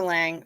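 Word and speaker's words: Lange: Katie Lang and Jessica Lang spell their name they say their name the same but it's spelled differently Jessica Lang has an e on the end my dishwasher isn't usable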